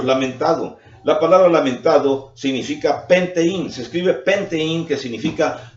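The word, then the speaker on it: πενθεῖν: La palabra lamentado significa penteín, se escribe penteín, que significa duelo, significa luto, significa lamentar.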